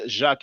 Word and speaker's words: Jacq: But the author's surname is Jacques, is spelled Jacq.